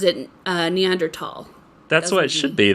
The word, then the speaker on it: Neanderthal: pronounces it Neanderthal.